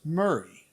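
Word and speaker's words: Maury: Mari County is pronounced Murray by the locals."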